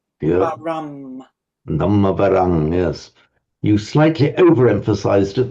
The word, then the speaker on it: Dhammavaram: You just pronounce the M a little bit short. You say Dhammavarang. Dhammavaham. Yeah. Varam. Dhammavarang, yes.